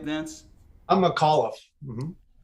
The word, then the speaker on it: McAuliffe: Am I pronouncing that right, Vince? I'm McAuliffe.